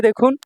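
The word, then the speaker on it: 度: ভাইয়া এখান থেকে কাঞ্জি পরীক্ষায় থাকবে ইনশাআল্লাহ তারপর দেখুন 100 নাম্বার যে কাঞ্জিটা এখানে 100 এটা হল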